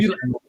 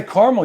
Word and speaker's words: caramel: When you say caramel, you drop a whole syllable. What's up with that? That's the way the South does it.